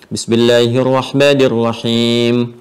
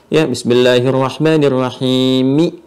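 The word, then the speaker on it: بسم الله الرحمن الرحيم: Meskipun ada huruf vokal 'i', tidak ada yang membacanya seperti itu, bahkan Imam terbesar sekalipun. Jadi pangkat tertinggi, Masjidil Haram, juga berakhir pada sukun. Bismillahirrahmanirrahimi. Tidak ada yang mengatakannya seperti itu.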